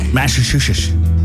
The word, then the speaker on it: Massachusetts: Massachusetts.